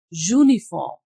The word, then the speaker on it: uniform: But in these other three words uniform, unicorn and unity, zu is producing sound. That is a consonant sound.